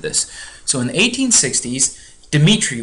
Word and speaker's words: Dmitri: So in the 1860s, Dmitri was his first name, that's how you pronounce it.